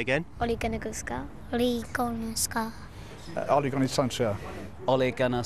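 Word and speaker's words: Solskjær: The biggest question of the lot, though, is how exactly do you pronounce the new manager's name? Ole Gunnar Solskjaer. Say again. Ole Gunnar Solskjaer.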